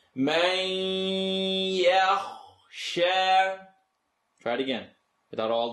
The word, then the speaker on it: يخشى: Everyone say, Man yakhsha. Try it again, without all the hoopla. من يخشى It's going to vibrate in your nose. We know about that. من يخشى Light to heavy transition.